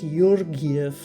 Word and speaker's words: Georgieff: Now, if you notice my last name, it's Georgieff, and if it's pronounced properly, it's Yorgiev.